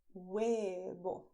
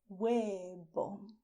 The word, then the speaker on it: huevo: egg, and you say huevo. Huevo. You see the vowels u, e, o. And the consonants. The consonants are H, which is silent. You write it, but you do not pronounce it.